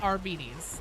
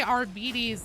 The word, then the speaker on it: Arbites: And that official pronunciation guide says Arbis the way that I say it.